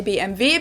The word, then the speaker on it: BMW: in German we say BMV because W is pronounced V in German and it stands for